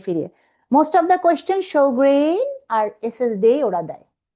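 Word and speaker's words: Sjögren: Eta pronunciation actually Sjogren.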